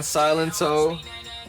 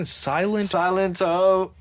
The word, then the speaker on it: Silento: It sounds like silent toe, That's exactly what I heard. but it's spelled like Silento, like silence. silento. Like silence in Latin or some shit. No, like silent and then an O.